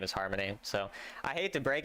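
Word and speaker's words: Harmonie: has a name and it's Harmony by the way because the unicorn has like it has like a little thing that says what its name is and her name is Harmony, but it's spelled H A R M O N I E.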